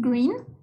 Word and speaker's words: green: El siguiente 4 es green. Y este es para abajo. Es G, R, E, E, N. Recuerden siempre que green lleva doble E. Y esa doble S se pronuncia como una I.